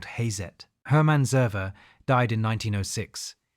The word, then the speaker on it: Hazet: The brand name came from the German pronunciation of his initials. H became Ha. Z became Zet. The company was called Hazet.